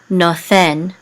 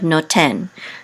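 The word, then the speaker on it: נֹתֵן: So in ancient Biblical Hebrew, this would have been nothen instead of noten.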